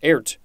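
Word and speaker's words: airt: next we have art i think it's pronounced ert or ert a-i-r-t this is the first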